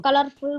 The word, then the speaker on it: colorful: you one more tip r sound at end is silent color colorful colorful clear r at the end silent okay so this time onwards